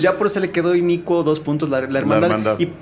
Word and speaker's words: Inicuo: la película de repente hay gente que dice inocuo o sea nadie lo pronuncia bien entonces pues ya por eso le quedó inicuo dos puntos la hermandad